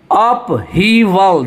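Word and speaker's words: upheaval: अपहीवल ये जो है नॉन कंटेबल और अनकंटेबल भी है, और इसको देखिए आप प्रोनाउंसिएशन एक बार देखिए, अपहीवल।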